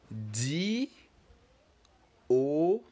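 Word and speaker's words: douze: see the EM saying here you say we done counting but this time around let's try to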